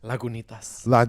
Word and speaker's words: Lagunitas: Lagunitas.